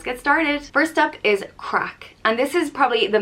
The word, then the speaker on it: craic: more and let's get started first up is crack and this is probably the main irish word that gets used all the time it means fun gossip or good times it's pronounced crack and people would say oh there was some